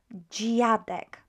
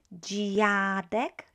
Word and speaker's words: dziadek: We've got DZI is pronounced as G. Not Z, but G. G, right? G. You will learn the sound when we start on greetings. You will say dzień dobry, G. So it's DZI, G.